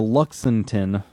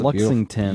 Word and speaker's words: Lexington: dawes i think i don't know how to pronounce that uh road through uh charleston uh to luxemton oh luxemton yeah that's lexington beautiful uh warning that the british were coming